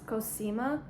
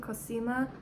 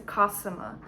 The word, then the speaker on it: Cosima: a nature name and the first one is cosima that's how I pronounce it I love it but Henry said no because it sounds like like Cocina which is kitchen in Spanish but I think cosima is so pretty other in England they pronounce the kasama which I don't really like I don't like kasama I like cosima I think that's pretty